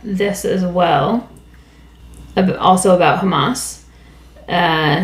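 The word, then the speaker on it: jamás: second curiosity of language in Spanish the word Hamas with a j j a m a s pronounced the same way uh as in Hebrew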